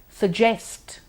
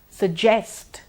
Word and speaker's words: suggest: or just or just suggest suggest now you may notice that I am NOT doubling the G it's not suggest suggest good huge huge